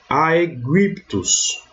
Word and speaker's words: Aegyptus: Então, nesse exemplo aqui, eu vou ler Aegyptus, né, que é Egito, certo?